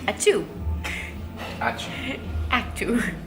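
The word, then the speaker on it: ačiū: say thank you and you say it a to actor basically like you're sneezing last night we heard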